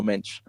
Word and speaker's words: Mendes: I don't I don't his His name is from this day forth his name is Nuno Mench.